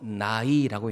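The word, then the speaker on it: ναί: 성경 여기서 옳소이다 라는 게 헬라어로 나이라고 읽는데 이게 아멘과 비슷한 뜻입니다.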